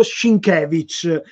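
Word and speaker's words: Sienkiewicz: di credito sinché vice io dico sheen kevin gli americani dicono sync è l'inizio billo conosciuto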